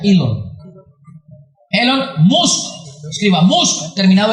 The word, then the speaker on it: Elon: Así se escribe Elon. Se pronuncia Elon.